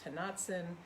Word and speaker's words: Tonantzin: I don't know if I'm messing up the pronunciation, but it's Tonantzin.